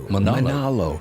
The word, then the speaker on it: Manalo: Manalo. It almost sounds like a Hawaiian kind of. Manalo.